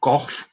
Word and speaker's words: Gogh: there, Gauguin and Van Gogh. And that's the last time I'm going to pronounce it properly. Gogh is apparently the right way to say it, but we all say Van Gogh, so forgive me for that.